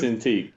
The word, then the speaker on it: Cintiq: Cintiq? Is that the Just throw that in there. She Shout out bought to me Lady a Marcus. Cintiq, yeah.